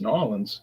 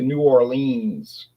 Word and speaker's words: New Orleans: say we came to New Orleans for a trip. Okay, that's how it's spelled. So, we can't argue with that. But no one around here would say that. They would say New Orleans.